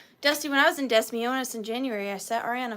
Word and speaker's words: Des Moines: Moines, end up being Des Moines? That is not a me problem. That's a world problem. How is DES duh? Name one other example where something S in the S is silent.